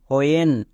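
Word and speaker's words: when: এইচ এর জন্য হয় ডব্লিউ এর পরে যদি এইচ থাকে তখন এর জন্য উচ্চারণ হয় হো যেমন হোয়েন এখানে দেখো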